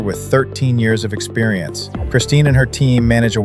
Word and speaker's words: Kristine: Is it is it pronounced Christine?